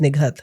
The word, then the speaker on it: Nighat: And I went, it's Nighat, but in Urdu, Punjabi, it's pronounced Nighat.